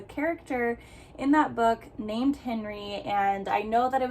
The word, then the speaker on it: Henri: in that book named Henri, and I know that it was based in France, so technically it is pronounced Henri when you do the French spelling that way, but I also found